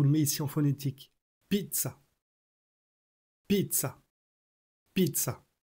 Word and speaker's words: pizza: qui est correct c'est pizza. Donc la prononciation c'est pizza. Je vous le mets ici en phonétique. Pizza. Pizza. Pizza. Le zz se prononce ts et pas dz.